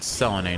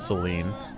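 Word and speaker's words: Selene: we shine okay so I think they pronounced it Selen not Seline oh that's strong you fought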